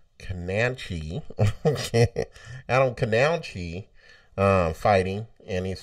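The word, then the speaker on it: Kownacki: In boxing, we have Adam Kanauch. That's not how you say it. Adam Kananchi.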